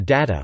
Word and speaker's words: data: and British usages are data which is pronounced with da as opposed to eat day and maroon pronounced with o